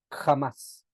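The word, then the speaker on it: חמס: de esta expresión es empieza con una k de kilo y después una j y se pronuncia jamás jamás sí a ver si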